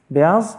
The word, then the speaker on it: beyaz: Beyaz?